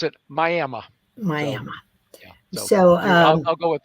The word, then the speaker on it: Miami: But they don't pronounce it Miami. They pronounce it Miami.